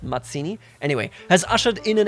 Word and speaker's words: Mazzini: Not Mazzini, but Mazzini.